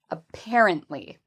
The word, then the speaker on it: apparently: So, make sure you use um you you stress the the right syllable when you say this word. apparently.